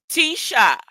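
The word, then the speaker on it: Taoiseach: of government oh Tia it's pronounced Tisha the Irish Prime Minister is called atisha oh teacher teacher there also what's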